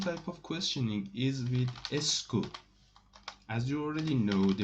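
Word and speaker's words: est-ce que: does in english language but it is called esco is pronounced like that esco and it is more polite whenever you want to make a question politely you can use esco but how at you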